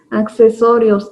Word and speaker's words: accesorios: Accesorios, accesorios. En la pronunciación también se puede notar eso. Accesorios. Utilizamos las dos C.